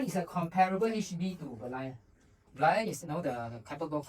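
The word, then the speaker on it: Berlayar: Okay, it's Berlayer, right? Correct? Yeah, pronounced correctly.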